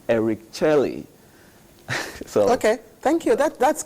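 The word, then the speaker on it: Éric Chelle: He said it should be pronounced Eric Charlie.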